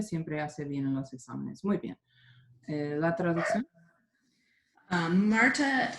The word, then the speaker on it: exámenes: Siempre hace bien en los exámenes. Yeah, you actually pronounced it how I had it written, but I just noticed I didn't have the accent on the ah. The word is exámenes, and everybody Okay.